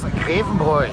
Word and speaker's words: Grevenbrück: Das ist der Benedikt aus Grevenbrück. Genau. Habe ich das richtig ausgesprochen? Vollkommen richtig.